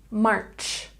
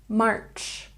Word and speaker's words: March: And March has the CH sound at the end. Ch, March. March, March.